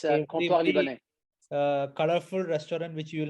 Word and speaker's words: Comptoir Libanais: It's a very difficult word to pronounce. It's French name. Yeah, it's Comptoir Libanais.